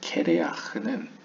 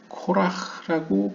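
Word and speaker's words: קֵרֵחַ: 근데 이제 히브리어로 봤을 때 이 대머리라고 번역되는 케레아흐는 발음에 따라서 코라흐라고 발음할 수도 있습니다.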